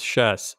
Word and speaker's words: Schiess: So I was, it's Schiess. Like chess. Yes. Chess. Like chess.